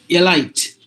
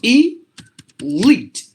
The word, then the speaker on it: elite: us tend to say this word as elite elite it should be like this e leaked Elite that's the way we have to pronounce this word and look at the